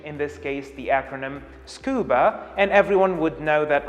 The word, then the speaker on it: scuba: pronounced it i said scuba now i could say s-c-u-b-a but this is wrong actually this is how